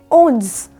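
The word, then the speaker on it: onze: 11 यानी 11 को बोला जाता है ओन्स।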